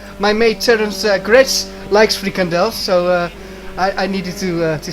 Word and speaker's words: frikandel: From Menno, we in Holland like frikandel. Don't know whether I butchered the pronunciation of that or not. Yeah, it's frikandels.